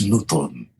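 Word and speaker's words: Notodden: festival important blues festival nnot newton n-o-t-o-d-e-n it's pronounced newton you know what's funny though didn't you think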